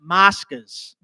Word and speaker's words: Moscas: Moscas. Mascus. Moscas. Check it out, bro. Can you spell it to me?